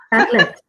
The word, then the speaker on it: Padlet: Dulce, pronuncia? Padlet.